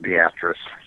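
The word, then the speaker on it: Beatrice: we have places like a a town called beatric but it's pronounced beatress I must I want to thank you uh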